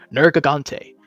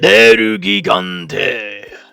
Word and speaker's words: Nergigante: And the first figure that they have created to start the new line is Nergigante, or as I like to pronounce it, Nergigante.